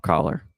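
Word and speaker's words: Kolar: to pronounce Charlie ker you have to say his name is pop pop Coller yeah instead of cola it's Pop I know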